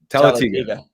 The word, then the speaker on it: Talladega: I keep hesitating on the name, on the pronunciation or enunciation. Talladega, right? Talladega.